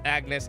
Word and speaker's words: Agnes: It's Agnes. I don't give a I know she doesn't pronounce the G.